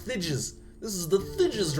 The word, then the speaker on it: Thijs: it just gets it gets big know it's pronounced thides this is the thides r t um so